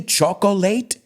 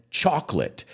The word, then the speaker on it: chocolate: Did I say chocolate? Chocolate, 3 syllables? No, I said chocolate. Choc, like tiza, no chocolate, chocolate. ¿Ves? El problema es eso. ¿Quiere decir la gente late o quiere meter ese o? Pero es ninguno. Es chalk, tiza, lit, chocolate. No, porque claro, no es a lit, it's lit, chocolate. 2 sílabas.